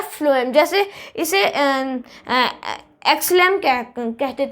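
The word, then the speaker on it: phloem: फ्लोएम, देखो फ्लोएम में एफ आ रहा है, जबकि वहाँ पे पी आना चाहिए था, पर उसे प्रोनाउंस कैसे किया जाता है, फ्लोएम।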